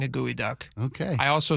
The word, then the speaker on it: geoduck: Gooey duck. I know you keep you I I got to love you. I read it phonetically. It's it's it's spelled geoduck, and I feel wrong saying a gooey duck.